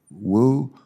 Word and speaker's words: Woo: My question is, Doctor, again, do you pronounce your name Woo? Yes, sir. Woo. Woo. Okay, like W-O-O.